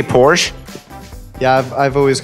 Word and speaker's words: Porsche: The E at the end of the word is not silent. Silent letters are not really common in German. And the R sound after a vowel is generally an A sound. So it goes Porsche.